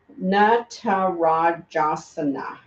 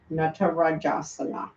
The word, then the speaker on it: Natarajasana: Natarajasana. Natarajasana. The na, remember, is dancer, and ra is king. So king of the dancers. Natarajasana.